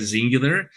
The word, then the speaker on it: Xyngular: part of the field development team here at zingular and I am here with Taylor if you